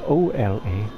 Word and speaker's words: hola: also in portuguese portuguese but they spell it o l a because h is silent in spanish ola oh vending machine let's